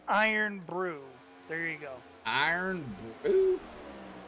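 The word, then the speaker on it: Irn-Bru: It's pronounced Iron Brew. There you go. Iron Brew? That's what Kara's saying. Iron Brew.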